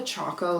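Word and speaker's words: Chaco: honest it's called a Choco liner cuz it has Chalk in it oh okay but it's also spelled like Cho like taco like c h a c o not chalk like no I think it's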